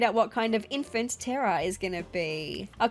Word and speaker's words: Tera: Her name is T E R A as in Earth. Remember? So, I'm not calling her a Terror. I'm calling her by her name, which is Terra.